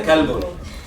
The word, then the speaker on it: كلب: Entonces cuando digamos قلب كبير, قلب y كلب. qa, ka. Bueno, qa, ka. Entonces puede tener problemas si tú hablas con una persona, decirle anta qalbun o anta kalbun.